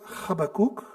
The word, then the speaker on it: Habakkuk: Alors, pour la petite histoire, Habakkuk en hébreu, ça se prononce Habakkuk, et ça vient d'un verbe qui veut dire étreindre, embrasser amicalement.